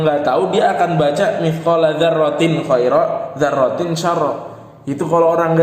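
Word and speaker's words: مِثْقَالَ ذَرَّةٍ خَيْرًا: Kalau orang yang enggak tahu dia akan baca mithqala dzarratin khaira, dzarratin syarra. Itu kalau orang yang nggak tahu hukumnya. Kita udah tahu hukumnya, kita baca langsung dipraktekkan. Mithqala dzarratin khaira, dibaca jelas tanwinnya.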